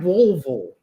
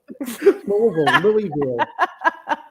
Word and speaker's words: Louisville: Yes, I found Louisville, but you don't pronounce it Louisville, do you? Louisville. You sound like you've got marbles in. Yeah, Louisville. Louisville.